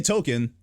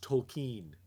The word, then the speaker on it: Tolkien: like if you say token oh yeah jr token do you hear the l yeah but apparently we've been saying it wrong it's actually supposed to be pronounced tolkien yeah yeah yeah tolkien but no one says